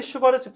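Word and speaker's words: Schwarz: 코시 코시 슈바르 슈 바르츠 이게 그 독일 애들은 W를 B라고 했잖아. 그죠?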